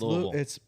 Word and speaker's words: Louisville: I say it right. It's Louisville. It's named after King Louis.